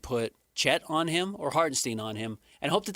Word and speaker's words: Hartenstein: But, you know, Hartenstein can't go that or Harden Hartenstein is how you pronounce that one.